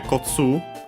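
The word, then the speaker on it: こつ: Uh but yeah, Kotu accent on the last syllable on its own.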